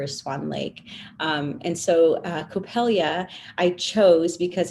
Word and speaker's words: Coppélia: a little bit about how you chose Coppélia?